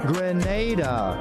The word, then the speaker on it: Grenada: Lucy's Straw Hat at Grenada Trade Center on Saturday 13th and Sunday 14th June, and at the Luke Cinema on Saturday 20th and Sunday 21st June.